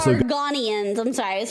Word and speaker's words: Argonians: But it's also Argonians. I'm sorry I was pronouncing them wrong.